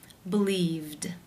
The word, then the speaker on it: believed: The infinitive form to believe ends in the v consonant sound, which is voiced. Therefore, it is again case 2, where the ed is pronounced as the d sound. Believed.